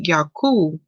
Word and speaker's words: Jacob: to meditate on now in the hebrew tongue we would say yoku um for jacob that's how we pronounce his name now if you notice